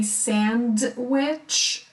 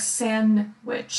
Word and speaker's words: sandwich: sandwich by the way you can say sandwich but usually no one pronounces death it sounds like sin which sandwich meat meat chocolate Chuck